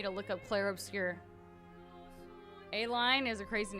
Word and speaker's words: Aline: Just like Aline, I've never heard the name Aline. If I didn't hear them pronounce it, I would think it was pronounced A-line.